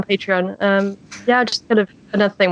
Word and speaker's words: Patreon: I always say Patron, and I get it wrong. Yeah, on Patreon.